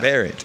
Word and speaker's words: Berent: Yeah, it rhymes with parent. Yeah. Berent, all right.